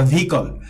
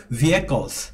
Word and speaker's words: vehicles: তো এই ভেহিকলস শব্দটাকে অনেকে ভুলভাবে উচ্চারণ করে বলে ভেহিকল বা ভিকল, তো এটা না বলে আমাদের ভালো উচ্চারণ হলো ভেহিকলস।